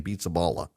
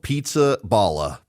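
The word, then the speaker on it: Pizzaballa: love the last name piz Bala uh exactly like you think it's spelled piz Bala p i ZZ ba L LA P Batista pitala is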